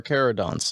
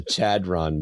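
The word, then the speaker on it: Kharadron: any trailers everyone's like oh cuz it's car kerodon it's kerodon but it's also British people and they don't like to pronounce words right so it's chodon over there aluminium I don't know what you're talking about it's very obvious the Chadron book Chad it's the Chadron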